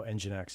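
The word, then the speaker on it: nginx: 1% so that's um oh engine X is how you say it um yeah we o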